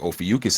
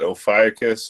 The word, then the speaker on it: Ophiuchus: Of course, a constellation like Ophiuchus is going to come up.